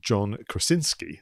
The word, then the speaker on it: John Krasinski: So you had a situation where the director, I'm going to try and pronounce his name properly now, John Krasinski, that's it, was interviewed to even do a breakdown of scenes.